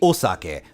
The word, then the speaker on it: Osaka: did this come from anyways first off it's pronounced sucking technically Osaka but not Saki I'm not sure where this